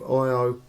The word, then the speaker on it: Io: uh metamorphosis is the story of IO uh as it sounds it's spelled i o and um she was